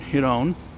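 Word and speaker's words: Girón: I'm down here at the park in Giron, accent on the second part, and showing my camera that I actually don't use anymore to a man who wants to buy it.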